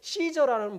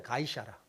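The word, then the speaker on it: Caesar: 사용하게 되었고 그 이후에 시저는 말 자체가 황제라는 뜻이 된 거예요 성경에는 가이사라 그러죠 가이사 이게 시저에 원래 이름 원래 정확한 이걸 시저는 영어식 발음이에요 줄려 시저 원래는 가이샤라 성경에 가이사라 돼 있죠 그게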